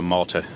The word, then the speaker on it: Malte: Still like the island, but with a short E, so Malta.